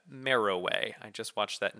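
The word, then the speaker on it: Meroë: it has a new capital at ameriway and that is how you say that marrow way i just watched that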